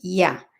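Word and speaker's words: יה: allá entonces sabemos que esa primera parte las dos primeras letras se pronuncian Ya ahora al agregar las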